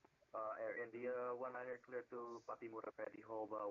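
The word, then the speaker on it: Pattimura: Patimura, that's how you say it, okay.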